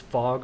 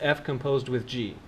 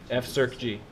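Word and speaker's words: f∘g: pronounce this as composed they call it circ because when you type set this the command to typeset the circle is circ circ G ok so this is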